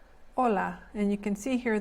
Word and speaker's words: hola: for specific reasons so the H is silent in Spanish so this word is pronounced hola hola hola and you can see